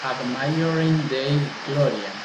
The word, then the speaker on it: Ad Maiorem Dei Gloriam: Se pronuncia Ad Maiorem Dei Gloriam.